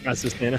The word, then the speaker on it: Azucena: What how do you pronounce her name again? Azucena.